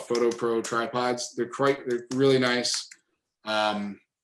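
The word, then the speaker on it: Foto Pro: Yep, it's Photo Pro. I'll type it into the chat box too, because it's spelled FOTO. So they're called Photo Pro tripods.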